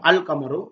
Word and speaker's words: القمر: அதுக்கு நாங்கள் அல்லை சேர்க்கிறோம், அல் கமரு.